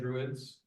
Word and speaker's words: Druids: you to think about is it all drw ads or Druids is that how you say it Druids Druid yeah is it is it